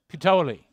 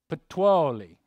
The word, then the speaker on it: Puteoli: Okay, so I knew that he would have the pronunciation down for me. Puteoli. Puteoli.